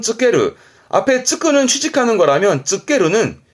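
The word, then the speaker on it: 就ける: 발음은 쯔케르.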